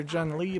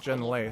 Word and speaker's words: Jun Lei: I called her Jun Lee, but now Parvati pronounced it Jun Lei, so we'll make sure to call her Jun Lei.